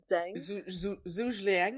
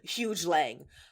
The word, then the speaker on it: Zhu Liang: Because now the leader of the opposition, the head guy, Zhu Liang, I think. Jesse's not here to yell at us about our pronunciation. I've been calling him Huge Lang.